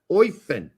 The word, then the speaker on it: Eupen: Oifen. All right. Not that I'm the pronunciation police, because I'm not.